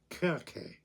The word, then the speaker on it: Circe: The Greeks would have pronounced that Kirke. Because it's written with a kappa to the the Greek letter kappa, which is always hard, Kirke.